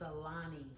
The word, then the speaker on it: Alani: It's Alani.